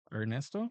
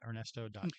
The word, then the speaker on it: Ernesto: yeah, so my Instagram is Ernesto Okay.